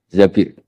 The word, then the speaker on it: Zabir: di hadis ini bukan bacanya bukan Zubair tapi Zabir Abdurrahman Bin Zabir tapi